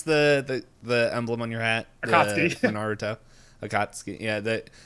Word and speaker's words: Akatsuki: well, I'm going to butcher how do you pronounce the emblem on your hat? Akatsuki.